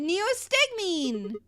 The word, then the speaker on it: neostigmine: That's how you pronounce it. Neostigmine.